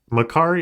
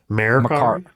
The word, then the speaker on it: Mercari: Is it Macari or Mercari? It's spelled Mercari, M-E-R. Mercari. I get Macari. I guess I almost it would be spelled like M-A-C-A Macari.